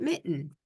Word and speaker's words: MiTN: new electronic filing system which is called Michigan transparency Network and we pronounce it Mitten and you for 2024